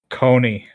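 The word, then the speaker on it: Kony: Rhymes with Tony. Coney.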